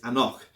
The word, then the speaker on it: anCnoc: get them confused and even the pronunciation is a knock so the actual parent